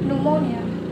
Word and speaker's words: pneumonia: Jadi P-nya tidak diucapkan. Kemudian ada psychiatrist, ya, atau psikiater. Kemudian pneumonia, ya, atau radang paru-paru.